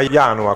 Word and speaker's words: Ianua: In seguito a Ianua, con l'accento sulla prima, ok, perfetto.